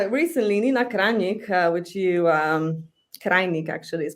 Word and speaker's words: Krajnik: But recently Nina Krajnik, which you Krajnik actually is pronounced, which you've mentioned, a self-proclaimed psychoanalyst or the only Lacanian in the Balkan field, let's say.